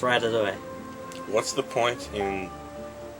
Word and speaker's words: Ratatouille: It shows you the pronunciation right here. Rat, a, to, eh. So it's Ratatouille.